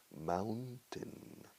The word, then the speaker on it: mountain: La pronunciación de la palabra montaña, mountain, mis amigos españoles soléis decir mountain. Y la única forma de cambiar vuestro vicio es de cerveza Mau, número 10, mountain. Mountain, mountain, mountain, mountain.